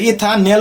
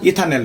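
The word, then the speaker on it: ইথানাল: তারপর কি ইথানেলডিহাইড লডিহাইড উচ্চারণ তাহলে ইথানেল উচ্চারণে কি ইথানেল মিথানেল তারপর কি প্রোপানেল এরকম উচ্চারণ কথা বুঝছ তাহলে এরকম অনেক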